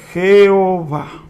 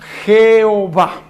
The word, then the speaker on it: Jehová: En el latín, Jehová.